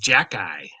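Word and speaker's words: Xhekaj: k a j no it's pronounced Jackie yeah and but it's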